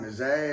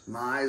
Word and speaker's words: Mize: I mean, I know that guy Miz or whatever they call him, Mizé or whatever. Mize. Okay, thank you.